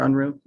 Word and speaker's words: Unruh: Unruh. I wanted to confirm, I'm pronouncing that correctly, Mr. Unruh?